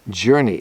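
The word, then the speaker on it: Journi: tell you about called journey journey and it's spelled j-o-u-r-n-i and it helps you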